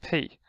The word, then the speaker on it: Ⲡ: So actually calls pronounced pay. They pronounce pi in Greek, but however pronounce like pay. The same way we say may and nay, we say also pay.